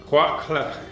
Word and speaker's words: قهوة كحلة: Khwa Khle. That's how you say it in Moroccan dialect.